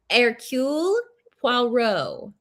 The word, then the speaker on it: Hercule Poirot: Hercule Poirot.